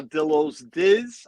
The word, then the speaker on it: Dillo's Diz: the twitter they are dilo's dizz i want to make sure you say it correctly you know my accent pillows there is an s there he is frank she